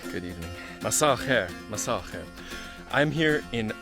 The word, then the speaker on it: مساء الخير: Masal khair, masal khair.